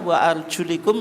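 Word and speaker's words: وأرجلِكم: Wa arjulikum ilal ka'bain. Lamnya tidak difathahkan, bukan bi fathil lam tapi apa? Bi kasril lam.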